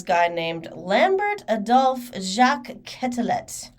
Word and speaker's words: Quetelet: BMI was created by this guy named Lambert Adolphe Jacques Quetelet. Quetelet, actually, is how you pronounce it.